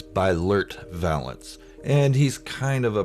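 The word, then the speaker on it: Beilert Valance: rendar spot and that's bylart valance sorry i pronounced his name wrong it's by lurt valance and he's kind of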